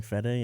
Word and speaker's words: Fede: Is that how you pronounce it? Flying FEDE, yeah.